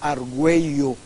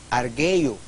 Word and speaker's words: argüello: va a escribir usted argüello argüello con mayúsculas la diéresis va porque lo contra va a decir arguello lo va a tener que pronunciar aquello morazán en mayúsculas claro porque